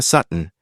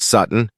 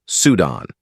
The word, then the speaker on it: Sutton: "All right, Sutton," Callahan began, purposefully mispronouncing his name as Sudan.